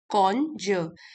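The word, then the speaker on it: conjure: इसकी प्रोनाउंसिएशन है कॉन्जर।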